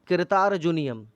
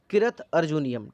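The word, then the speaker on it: किरातार्जुनीयम्: ठीक है, भरवी की एक बहुत फेमस किताब है कृतार्जुनियम, सॉरी इसकी प्रोनाउंसिएशन एक्चुअली है किरत अर्जुनियम।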